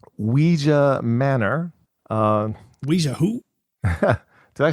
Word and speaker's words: Ouija: like the Ouija board? Right? Ouija. Yes. Ouija. Ouija, like a Ouija board.